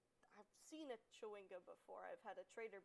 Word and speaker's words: Chwinga: Alec, it is pronounced Chewinga.